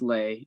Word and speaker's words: Li: i believe that uh li patel is next i hope i pronounced your name correctly yeah it's lay um my question was